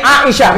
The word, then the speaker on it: Aisyah: Ini Aisyah. Orang Melayu dia panggil Aisyah A tu kan, padahal ejaannya Ain Alif Hamzah.